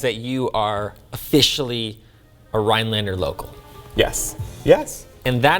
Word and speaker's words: Rhinelander: But I feel like once you say Rhinelander, you drop the N on Rhinelander, you become a local.